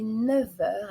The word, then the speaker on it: neuf heures: 6 heures 10 heures attention quand même à 9 h on va pas prononcer 9 heures mais 9 heures avec une liaison et attention aussi à